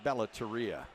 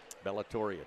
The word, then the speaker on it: Bellatoria: and my personal favorite the Bella teria bellatoria take your pick I asked somebody from the company how to pronounce that they said either way is five Puck's moving around and